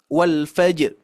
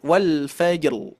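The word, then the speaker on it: والفجر: sini ini malah mengurangi walfjr harusnya Wal Fajr ya diberikan huruf ro nah cara bacanya adalah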